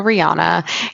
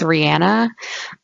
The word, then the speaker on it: Rihanna: Also, Rihanna. Can I go off really quick? I don't know if we Yeah. talked about this in our Illuminati episode, but Rihanna's name is not Rihanna, it's Rihanna.